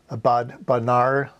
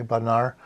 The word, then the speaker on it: Bodnar: Bodnar, gotta get it pronounced correctly, Bodnar.